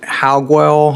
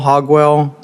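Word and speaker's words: Hauguel: I don't know how you pronounce it. Hogwell. Hogwell. How do you know how to say it? H A U. Guel.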